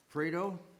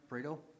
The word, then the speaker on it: Prado: The first case is RZ 24-2-8-1, a request of Prado. Am I pronouncing that right? Prado?